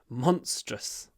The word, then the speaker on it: monstrous: monstrous he looked monstrous monstrous uh just remember in Russian you've got this big or Monster monstrous in English it's clipped monstrous monstrous okay the next one